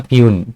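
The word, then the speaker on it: puisne: Pronunciation ध्यान से सुनिएगा, प्यून।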